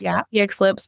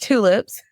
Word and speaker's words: TXlips: It is TX lips, but it's pronounced tulips.